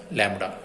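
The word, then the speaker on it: lambda: Is denoted by symbol, this symbol, and pronounce as लैम्बडा।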